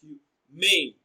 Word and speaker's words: humane: Humane is stressed on its second syllable as humane. Mane is pronounced louder and longer.